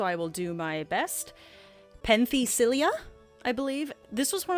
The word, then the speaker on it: Penthesilea: Penthesilea, I believe.